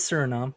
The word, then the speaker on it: Suriname: The Suriname Toad, Suriname. I know how to spell Suriname. Well, some people may not. I may have been pronouncing it wrong. Who knows? No, you're right. It is Suriname.